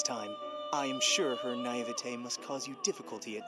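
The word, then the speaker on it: naïveté: I am sure her naivete must cause you difficulty at times, but I hope that you can work well with her. Oh, that's how you say it? Naivete?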